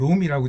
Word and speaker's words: Rrom: 그래서 롬은 발음은 같은데 글자는 우리가 아는 롬은 ROM이고, 그 다음에 저들이 쓰는 글자는 RROM입니다.